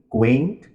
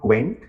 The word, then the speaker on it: quaint: Quaint. It's not quant, it's not quaint, it's quaint. Focus on the vowel sound. Ain't, quaint. It rhymes with paint.